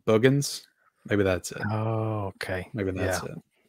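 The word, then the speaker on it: Boogens: And I think somebody said, say it like booger. So it's like Boogans.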